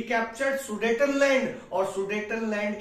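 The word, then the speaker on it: Sudetenland: वो देखिए then कैप्चरड sudden land सुडेटनलैंड बोलते हैं इसको सुडेटनलैंड क्या है चेकस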